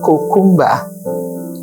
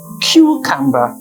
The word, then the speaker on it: cucumber: let take other examples the words cucumber a lot of people would say cumba and the actual pronunciation is cucumber how about this word